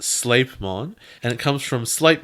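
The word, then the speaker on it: Sleipmon: want etymology for you sleep on is pronounced sleight mon and it comes from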